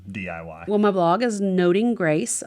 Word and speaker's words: Noting Grace: Well, my blog is Noting Grace. A lot of people mispronounce that as Nodding Grace or Nothing Grace.